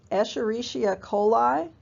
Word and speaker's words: Escherichia coli: The bee is Escherichia coli, or E. coli, but Escherichia, if somebody pronounces the whole thing.